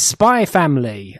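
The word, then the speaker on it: Spy × Family: everyone um but it's spy family and it's one of these series that has an x in the middle but i am given to be told that the x is silent so it reads the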